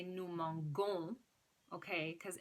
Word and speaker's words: mangeons: Because M-A-N-G-O-N-S is going to be pronounced mangon. So to make it mangeons, nous mangeons, you're going to have the E after the G and then add your ending, O-N-S. Nous mangeons. Okay, that E softens the pronunciation of the G.